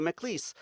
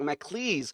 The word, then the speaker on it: MacLees: here today with Natalie MacLees. I said it wrong. I said I wasn't going to say it wrong. I said it wrong. MacLees.